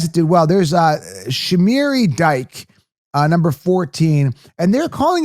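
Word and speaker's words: Dike: I don't see a C. I don't see an A-Y. His name is not DK. It's Dyke.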